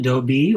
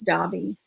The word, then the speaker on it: Dobby: Well, Harry Potter, was it Dobie or Dobby? It's Dobby.